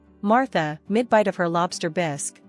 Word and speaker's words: bisque: mid-bite of her lobster bisque which she pronounced bisy with a force accent suddenly fixed me with